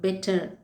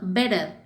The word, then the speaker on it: better: இதை British people எப்படி சொல்லுவாங்கன்னா பெட்டர். ஆனால் இதே இது அமெரிக்கன் எப்படி சொல்லுவாங்கன்னா பெடர், பெடர்.